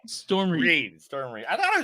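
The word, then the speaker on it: Storm Reid: You can't send me stuff and get mad at me when I mispronounce it because Okay, you spelled it wrong. Storm Reed.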